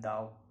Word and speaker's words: doubt: Next, it is always silent when following the letter M. Only the sound of the consonant M is pronounced, and if B also comes before the consonant T. Example: aplomb, climb, dumb, plumber, depth, and doubt.